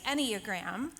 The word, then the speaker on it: Enneagram: So it is the Enneagram, that's how you say it.